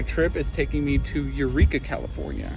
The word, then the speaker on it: Yreka: is taking me to Eureka, California. or at least that's how I'm assuming it is pronounced is Y R E K A Y R E Ka.